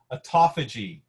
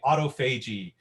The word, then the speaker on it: autophagy: stress all right now here's one of those words that's hard to pronounce but it's autophagy but you can say autophagy i mean tomato tomato it doesn't matter folks but autophagy is a